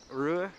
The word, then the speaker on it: Rouen: Rouen, I believe it's how it's pronounced. The N is silent, is what someone told me last night.